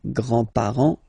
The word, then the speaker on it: grands-parents: Remember, you don't pronounce this final S here, grands-parents, okay?